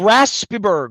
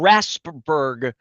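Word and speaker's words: Raspeburg: Raspberg. Rasp with the E may be sound. Raspberg.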